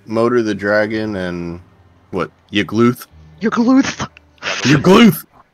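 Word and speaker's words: Yagluth: Yggluth? Yggluth! Yggluth! You gotta choke on it a little bit when you say it.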